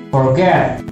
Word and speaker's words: forget: Forget, ini kan bacanya forget, kan ditekan atau forget, ditekan forgetnya, jadi di double, jangan forget, salah pembacaannya. Ini secara pronunciation itu forget, forgetnya yang terakhir ini yang ditekan.